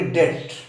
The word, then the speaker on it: debt: और इसी तरह से डेप्ट, जिसको कुछ लोग पढ़ते हैं, तो फ्रेंड्स इसका शुद्ध उच्चारण डेप्ट नहीं है बल्कि डेट।